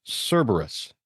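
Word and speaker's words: Cerberus: it it the hyphen the accent is on the first syllable. So, it's Cberus.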